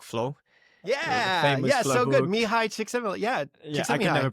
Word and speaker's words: Csikszentmihalyi: Mihai Csikszentmihalyi. I can never pronounce his last name.